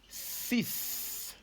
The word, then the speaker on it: six: in French very simple we say sis sis yes again sis yes and it is written exactly the same like in English just different in the X sound at the end in English we have the X in French we don't have any X who knows it's like